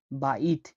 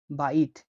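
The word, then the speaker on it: بيت: বাকে এভাবে লেখা হয়, বায়ের উচ্চারণ হয় ব হিসেবে। উদাহরণ হচ্ছে বাইত, বাইত, বাইত মানে হলো ঘর, বাইত মানে ঘর।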